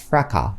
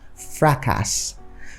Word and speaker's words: fracas: an S but then you don't pronounce the S at the end of the word the word is simply pronounced fraca but most Nigerians pronounce it as fracas but then in American